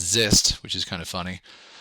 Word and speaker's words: XIST: and the first one is X um actually pronounced zist which is kind of funny um and the